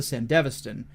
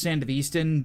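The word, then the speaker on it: Sandevistan: of technology called the sand devaston which I could have swore was pronounced sand of Easton but whatever my pronunciation is cooler but I'll go with how the anime does it this spinal cord implant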